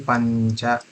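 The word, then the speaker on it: पञ्च: Normally we write it as Pancha, but the way if you look at the pronunciation, it's actually Pancha.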